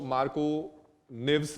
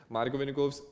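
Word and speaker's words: Markovnikov: कई स्कूल के टीचर इसको मार्को निव्स भी बोलते हैं, अजीब अजीब प्रोनाउंसिएशन करते हैं। मार्कोविनिकोव्स is good for मी, I hope आप लोगों को भी ऐसा ही साउंड कर रहा हो।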